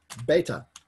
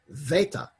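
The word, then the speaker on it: βήτα: In classical Greek, it's beta, delta, gamma. In modern Greek, it's veta, velta, yamma.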